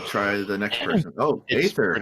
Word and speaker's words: Aether: Oh, Aether, how are you? Did I pronounce your name right? I actually go by Aether, but it's technically pronounced Ether.